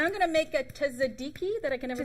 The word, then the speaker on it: tzatziki: And I'm going to make a tzatziki that I can never pronounce.